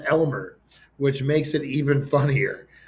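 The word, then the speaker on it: Aylmer: by a talking wormlike Parasite by the name of Almer pronounced Elmer which makes it even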